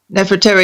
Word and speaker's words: Nefertari: what's up how do you how do you pronounce her name net for terry you're doing good okay right nefertari used to love moses but then she changed